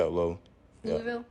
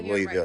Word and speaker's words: Louisville: It's Louisville. Yeah, it is. Say Louisville, it's Louisville. You're right. Say it right. Say it right. It's Louisville. Louisville. Louisville. People take that personal from the city. You got to say, you know, we country.